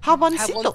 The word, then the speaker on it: jaboncito: Jaboncito! Jaboncito! Oh, there you go! Jaboncito! Is that the right way to say it, though? Jaboncito. To say it, yeah. Yeah, is jaboncito.